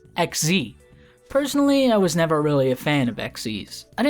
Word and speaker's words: XYZ: It is written as XYZ, but of course, no one with self-respect calls them that, okay? So how are you meant to pronounce it? Well, there's Parallel Xyz and Firewall Exceed Dragon. Xyz makes sense based on the mechanic's design. You exceed the level limit. Sure, easy to understand, case closed. No, it's pronounced XZ.